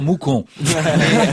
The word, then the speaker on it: Mouscron: mousron donc en Belgique dont on ne prononce pas le S on en a parlé